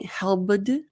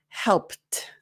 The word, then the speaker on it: helped: So if you're saying helbed, that's the kind of mispronunciation that causes confusion. There's sometimes or some words where you mispronounce, but it's still understandable. This is one of those where it really is important to master those sounds a little bit more. So help, p, helped, helped.